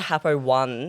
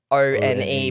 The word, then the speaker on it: Happo-One: So everyone calls it Happo-One because it's spelled O-N-E, but it's actually One.